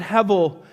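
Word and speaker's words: הבל: as he ebel, but the B is pronounced like a V. So it's the word he. And when you look at hevel, the word means a mist, a vapor, a breath, or a puff of smoke.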